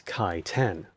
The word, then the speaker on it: chitin: My name is Kai 10, to remind everyone of the correct pronunciation.